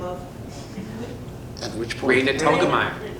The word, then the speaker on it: Raina Telgemeier: Raina Telgemeier. How do you spell that? Raina Telgemeier.